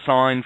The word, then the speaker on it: sign: That's why there's a silent G in there. Never, ever sign for anything, people.